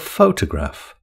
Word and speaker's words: photograph: Photo is a shortened form of photograph. How many syllables has photograph got? It's got three syllables. Photograph. In photo, the first syllable is stressed. Which syllable is stressed in the word photograph?